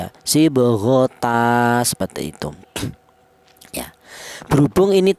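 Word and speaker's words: صبغة: Ini cara bacanya itu sibghota seperti itu.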